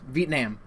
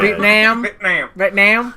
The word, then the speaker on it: Vietnam: I mean, you said it wrong, bro. It's Vietnam. Oh, my bad. Vietnam.